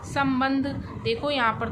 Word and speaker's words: संबंध: आगे अब हम एक और शब्द देखते हैं संबंध आपको यहां पर तो दो दिन दिया है